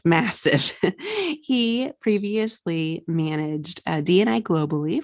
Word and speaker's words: MASF: Note, it's pronounced massive.